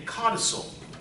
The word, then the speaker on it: codicil: long, something called a codicil. A codicil is a will-based word that means amendment. Can you spell that? What's that? Spell it, please. Cod like a codfish. Cod, I-C-I-L. C-O-D-I-C-I-L.